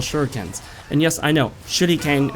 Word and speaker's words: shuriken: And yes, I know, shuriken is the way you say it in Japanese, but we pronounce it shuriken.